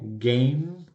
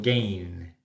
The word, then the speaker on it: game: Cuando esto ocurre en inglés, los hablantes del español a menudo lo convierten en N de novio. Por ejemplo, game, que quiere decir juego, game, ¿cierto? Lo estoy sobreactuando un poco y por eso suena ma, pero realmente es game, y en vez de eso terminan diciendo gain.